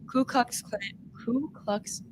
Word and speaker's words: Ku Klux Klan: Ku Klux Klan. Is that how you pronounce it?